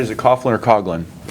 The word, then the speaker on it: Coughlin: is it Coughlin or coglin it's cogin with a hard G that's all right it's